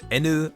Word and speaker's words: haine: which, according to Ado, is actually a French word pronounced as enu or enu and means something along the lines of hatred.